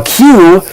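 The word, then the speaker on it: queue: graphic for q and it's spelled q u e u e because it comes from french it's a strange word in english but really just the letter q followed by four silent letters yes exactly the letter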